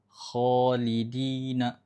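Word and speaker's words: خالدين: dia harus dibaca agak tebal bukan kho tapi kho. Karena ko salah satu huruf tebal, maka bacanya juga harus kholidina.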